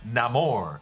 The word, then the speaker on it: Namor: ancient Maya people but he says that his enemies call him Namor and yes to no chuerta does use a different pronunciation there but keep in mind